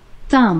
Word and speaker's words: thumb: 어 m 어 m 왜 비가 소리 안 나죠? 비가 소리가 안 나죠. 왜요? 썸브 하려니까 발음이 힘들어서 썸브 하면 자연스럽게 하면 돼요. 어 자연스럽게 하면 돼? 그럼 넌 썸브 해. 아니요 난 썸 할게.